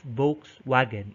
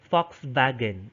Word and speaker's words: Volkswagen: why for example today they would spell vox wagon but they do not pronounce that as volkswagen and said they would pronounce that as fox wagon that's german for you